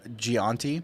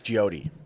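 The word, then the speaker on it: Gyoti: was calling the mayor gianti yeah it's jody okay it's jody g-y-o-t-i not gianti it's jody yeah g-y-o-t-i so i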